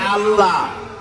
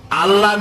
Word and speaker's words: আল্লাহ: আল্লাহ যদি বলি লক্ষ্য করতেছেন আমি কি বলতেছি যদি বলি আল্লাহ তাহলে এটা অশুদ্ধ আল্লাহর নামটা হচ্ছে আল্লাহ বলতে গিয়ে মুখটা গোল হয়ে